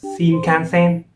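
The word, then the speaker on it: 新幹線: sentence yeah so the First new word is pronounced as SHINKANSEN I have heard of this name before this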